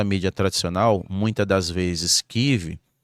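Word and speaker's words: Kyiv: Porque, por exemplo, aqui na nossa mídia tradicional, muit das vezes, KIV é chamada de Kiev. Segundo a Débora é uma pronúncia russa, não só Kiev, como demais eh palavras que eles tentam russificar.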